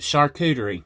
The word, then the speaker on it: charcuterie: mixed into it and charcuterie that's how you say it oh well you know I call it Karen at work they tease me because I caught a Czech chicory board but it's a charcuterie that's what you call